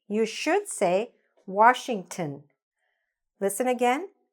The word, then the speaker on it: Washington: You should say: "Washington". Listen again: "Washington", "tin".